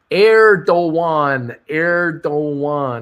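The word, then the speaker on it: Erdoğan: Bruce, it is pronounced Erdogan.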